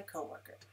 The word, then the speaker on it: coworker: Notice how I pronounce co-worker. Co-worker, three syllables, la la la, with the stress on the first syllable, 3-1.